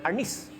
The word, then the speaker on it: arnis: Which is the term for arnis. Arnes is the Spanish term from which the word arnis was derived. And that's the Tagalog pronunciation of arnes.